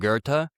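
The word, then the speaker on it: Goethe: in Wolf Gang Bond Gerta G O E T H E um but we you know we that H is kind of silent or kind of strangely silent, right?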